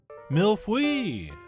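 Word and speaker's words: Mille-feuille: Mille Feuille. That's right, that is pretty close to the correct pronunciation.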